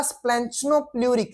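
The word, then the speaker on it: splanchnopleuric: पहला सोमैटोप्लूरिक extra embryonic mesoderm, दूसरा स्प्लेंचनोप्लूरिक, span, देखो SPLEN, स्पैन, CH च नो NO नो, प्लूरिक मेसोडर्म।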